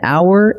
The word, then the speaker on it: hour: But an hour and an honest answer take an, even though they start with the letter H, because that H is silent.